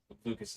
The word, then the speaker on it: Lucas: Lucas says Lucas is the correct pronunciation.